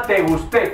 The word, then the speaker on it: Te Gusté: Bunny en el tema Te Gusté, con acento en la E, aunque en el título no lo lleva.